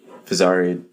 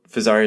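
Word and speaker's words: Fezzari: So Fazari is a brand. If you're not familiar with them, they're a direct-to-consumer company out of Utah, obviously Italian name. Obviously rhymes with an Italian sports car, which people like to mention a lot.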